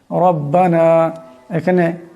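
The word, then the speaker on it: ربنا: আলা কুল্লি শাইন কাদির রব্বানা এখানে রব্বানা এখানে রাকে মোটা আওয়াজে পড়বেন রব্বানা আতমিমলানা নূরানা আমি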